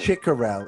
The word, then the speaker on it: Chicurel: Chicurel is how you pronounce it, Stein.